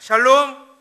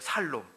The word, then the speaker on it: 샬롬: 어디에서이 살살 샬롬을 갖다가 발음을 잘못들은 거야 그래 갖고 샬롬으로 못 듣고 샬롬으로들은 거야 살롬 그래 갖고 2청년이 돌아다니면서 좋잖아요 샬롬 샬롬 또 너무들 좋아하니까 자기도 그 살롬 살롬 하고 다닌 거예요 그러니까 야